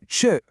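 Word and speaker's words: czy: Now, chi, pronounced kind of like chi, is such a cool little word.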